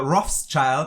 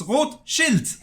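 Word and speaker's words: Rothschild: all of the names every time i hear somebody say uh roth's child i'm like no it's wrote shield it's red shield not roth's child it doesn't have anything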